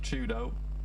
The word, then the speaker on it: 4YDO: For Twisted Minds, if you weren't aware, 4YDO is pronounced Chudo.